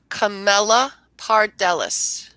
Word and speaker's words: Camelopardalis: I just want to make sure, is it pronounced Camelopardalis? Camelopardalis.